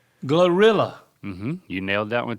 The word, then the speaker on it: GloRilla: Glorilla.